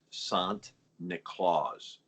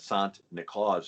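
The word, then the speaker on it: Sint Nicolaas: had now by the way uh the dutch pronounced saint nicholas sant nicolas nicholas right saint nicholas but sant nicolas and you say that a couple times you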